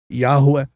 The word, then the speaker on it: Yahweh: When you see yourself as Yahweh, he finally sees you.